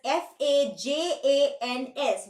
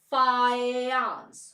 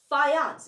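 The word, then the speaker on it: Fajans: famous law this famous law is written as F A J A NS but it is pronounced as fans what do you call it you pronounce it as fance it's not fajan rule that's what most of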